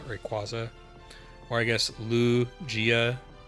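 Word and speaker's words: Lugia: You're not mispronouncing like saying Rayquaza and not Rayqu Rayquaza and not Rayquaza or I guess Lu Gia. The emphasis I think is more on the Lu than the G.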